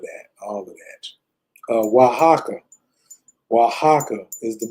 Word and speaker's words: Oaxaca: Oaxaca is the name of it. Right. Oaxaca is spelled OAX.